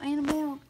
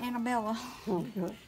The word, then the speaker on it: Annabelle: You know that demon doll Annabelle? Kathy calls it Annabella. That is a demon doll. Well, you didn't expect Kathy to say it. I don't know why we thought she would ever pronounce it correctly, but you call mine.